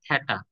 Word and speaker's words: থিটা: তাইলে এটাকে কি বলব আমরা থিটা এটার একচুয়াল উচ্চারণটা হচ্ছে থ্যাটা এইচইটি এ থ্যাটা কিন্তু আমরা কি বলি থিটা বলি তোমরাও চাইলে থিটা বলতে পারো কেউ কিছু